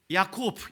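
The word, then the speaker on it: יעקב: 그래서 그의 이름을 야곱이라고 지었는데 여러분 야곱이라는이 이름 히브리어를 읽으면 야곱프 이렇게 되는데요.이 단어가이 이름이 어떤 단어에서 나왔냐면 발꿈치를 뜻하는 아케브라는 단어에서 나왔어요.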